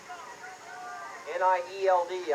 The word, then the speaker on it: Nield: N-I-E-L-D, I think they pronounce that Nield.